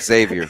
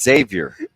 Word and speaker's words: Xavier: I'm not going to answer you because you said Xavier. Xavier. Well, I would have said it right if I could have done it like 3 minutes ago. It's Xavier. With a Z.